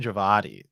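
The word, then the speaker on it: Djawadi: up by the way it is um javadi raman javadi is how it is pronounced okay okay d-w-i-j you know it's like javadi okay but um anyway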